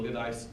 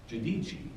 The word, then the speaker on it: Giudice: Gadice is how we pronounce it because we're not smart enough to speak Italian. So the correct pronunciation is Giudice.